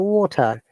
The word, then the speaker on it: water: And in British English, letter T is always strong. Like we say water. May I have a water bottle, please? But in American, pronunciation, letter T sounds like D if it is in between two vowel sounds. Like may I have, they will say water bottle, please. T sounds like D. So Okay, they force on